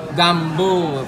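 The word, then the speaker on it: gumbo: Gambo, finally we pronounce right.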